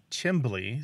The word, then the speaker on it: chimbly: That pronunciation, the C-H-I-M-L-E-Y, and another one, chimbly, C-H-I-M-B-L-Y, are both really common in the United States, and they're often looked down upon. But from another perspective, they're these artifacts of immigration, because they tend to pop up where Americans have roots from the north of England and Scotland, because that's where those pronunciations come from.